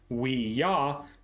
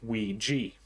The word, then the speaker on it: Ouija: Ouija and explained that it was the German and French word for yes combined if this version is indeed the true origin it would imply that the correct pronunciation should be we yah rather than we G